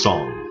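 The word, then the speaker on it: 松: most people think uh the word in Chinese is song and it's spelled s o n just like a song that you sing if we were to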